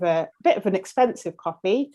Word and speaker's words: Ko-fi: have started using called, I think it's called Coffee, but it's spelled like KO-FI.